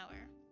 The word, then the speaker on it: hour: Nobody ever pronounced the H in sound in our the Greeks, Romans or the Franks or Germans nor the English.